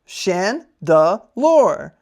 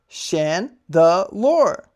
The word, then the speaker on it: Chandelure: For everyone's favorite segment of the day, Pokemon pronunciation of the day. Spooky Chandelure. Chandelure. This Pokemon haunts dilapidated mansions. It sways its arms to hypnotize opponents with ominous dancing of its flames. Chandelure.